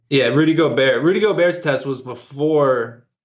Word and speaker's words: Gobert: Did I pronounce his name correctly? Yeah, Rudy Gobert.